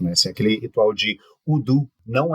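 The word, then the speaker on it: Hoodoo: haitiano nos Estados Unidos você tem udu que se escreve h o o d o o Ah então hudu é então assim é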